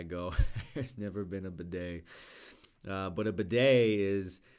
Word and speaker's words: bidet: if you have a bidet even better b-i-d-e-t this is a French word we keep the pronunciation the same in English as in French so the E.T we